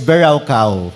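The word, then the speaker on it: בְּרָכָה: original language niya is Anong basa dito to berka bera okay ang pronunciation diyan is bera kao okay ang layo ano pero Hebrew word po kasi yan yan so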